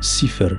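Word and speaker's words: صفر: au serpent de l'oroboros se prononce SIFER en arabe d'où vient le nom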